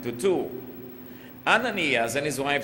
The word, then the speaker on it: Ananias: zafira By the way in pronouncing biblical names It's always safest and most correct to pronounce it the Tagalog style rather than the American Style like ananias and safira dahil ang